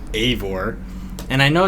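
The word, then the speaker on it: Eivor: I'm gonna cut you off real quick it's pronounced aore what did I say ivore I do keep saying Ivor I don't know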